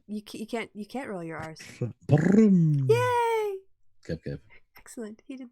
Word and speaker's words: Brum: Say brum. Kev? Brum. No, you have to roll your R's like I did. No. Can you no, not? I don't. You can't roll your R's. Brum.